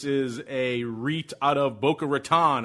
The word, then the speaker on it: Boca Raton: This is a REIT out of Boca Raton, or as the locals say, Boca Raton.